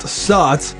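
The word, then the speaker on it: Zotz: that they're here because House of Zots, technically pronounced Saut, translates to bat in several Mayan languages.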